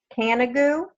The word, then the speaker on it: Canigou: So, and help me pronounce this again. The name of your business is Canigou?